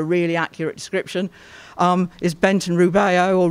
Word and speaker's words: Rubeo: Is Benton Rubeo, or Rubio, spelled R-U-B-E-O. In here it's spelled with an I, and it was his McCaw.